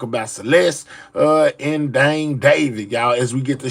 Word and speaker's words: d4vd: Uh, and all of it has centered around the singer named uh, David. It's pronounced David, but it's spelled uh, with um, with a four.